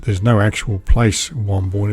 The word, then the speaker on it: Wamboin: Road, which takes me to an area called Wamboyne. That's spelled W-A-M-B-O-I-N, and you might notice it on the large stone sign as I drive up Norton Road.